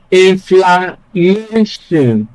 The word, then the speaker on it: inflammation: For words that end in the following suffixes, they almost always take stress on the second syllable from the end, and the first is ION. So ION here is what ends this word. And so we place stress on the second syllable from the end of the word.